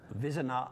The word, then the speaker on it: Vizina: Vizina. Vizina. Is that how she pronounces it? That's how they pronounce it.